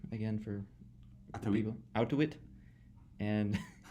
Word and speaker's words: Auttawich: his name is ovich manwe although it's not pronounced out ofish so how do you pronounce your name again for out to it and it's he's from Thailand this is the